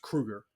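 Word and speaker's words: Kroeger: or as he pronounced, or as it's properly pronounced, Kruger.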